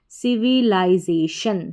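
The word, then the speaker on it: civilization: सिविलाइजेशन, सिविलाइजेशन, सिविलाइजेशन का मतलब होता है सभ्यता या समाज। चलिए नेक्स्ट स्पेलिंग देखेंगे।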